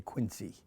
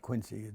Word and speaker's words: Quincy: John Adams and John Quincy Adams it's always mispronounced people say Quincy it's not Quincy it's more like a Z sound its Quincy it was